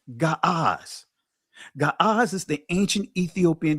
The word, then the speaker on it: Ge'ez: Ge'ez. Actually, it was it's the proper pronunciation is Ga'az.